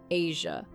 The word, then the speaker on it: Eja: Shania also became a mother to her son, Eja, pronounced Asia, born in 2001, a role she cherished deeply.